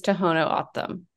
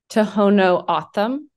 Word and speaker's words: Tohono O'odham: pronunciation the pronunciation is Tohono Autumn say that again Tohono Autumn uh-huh okay um so it kind of rhymes with Gotham I guess uh and tell tell